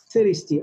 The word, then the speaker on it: thirsty: وزي ما انتم شايفين التي اتش هنا اتنطقت س, س, thirsty, عطشان.